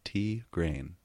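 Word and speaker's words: Tigraine: suck on just confirmed it is indeed tea green tea green tea grain pronounced tea grain I'm still gonna say Thai grain that's yeah that just bothers me I don't know gotcha emphasis on the grain to grain chapter 46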